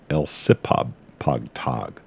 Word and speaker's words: Elsipogtog: It's spelled Elsipogtog. Elsipogtog.